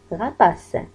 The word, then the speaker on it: rapace: R avec A, ra. P avec A, pa. C avec E. قلنا ستنطق S. Se. نربط الثلاث les trois syllabes. Ra, pa, se. rapace.